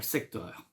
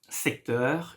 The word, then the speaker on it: secteur: And it's easy one, it's directly here, secteur. Secteur, in English, sector. Well, you pronounce it better than me, of course, in English. But in French, we say secteur.